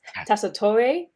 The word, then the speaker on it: Tessitore: Sophia, and I believe her last name is pronounced Tessitore. I just did a quick search, and it was like Tessitore because it's Italian.